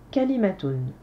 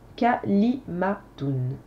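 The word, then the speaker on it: كلمة: y va suivant parole ça se dit kalimatoun je répète kalimatoun correction nombre de syllabes k li mais et t on a quatre syllabes quatre syllabes courtes donc nous n'avons pas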